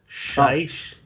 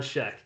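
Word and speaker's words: Schaech: name not gonna pretend john scheisch no i check rhymes with heck john scheck all right so he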